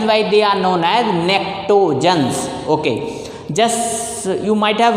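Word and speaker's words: pnictogens: That is why this group elements are known as nectogens. P is silent.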